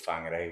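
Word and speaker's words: Whangarei: Um, and then in a place called Fangare, which is north of Aland. F.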